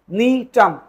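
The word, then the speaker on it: Gnetum: নিটাম, একটা উদ্ভিদ, এর নাম কি? জিনিটাম না, কিন্তু এর নাম হবে কি? নিটাম। জিটা এখানে উজ্জ্ব থাকবে, মানে উচ্চারণ করা যাবে না।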